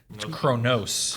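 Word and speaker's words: Qo'noS: That's uh Kronos. Kronos. All right. Yes. I knew there was a different pronunciation there, but it's spelled with a Q, but it's spelled with a Q.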